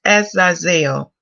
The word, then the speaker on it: Azazel: So it's pronounced as Azazel.